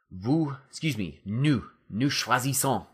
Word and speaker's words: choisissons: Nous choisissons. Nous choisissons, right? Because you've got to get that son, just like cherchons, okay?